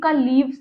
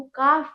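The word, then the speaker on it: calf: के is silent right काल्व नहीं बोलेंगे इसको काफ बोलेंगे एफ को हटा के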